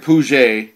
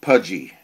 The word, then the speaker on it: Puje: it is a pudgy looks like pu but I understand it's pronounced pudy silly name for a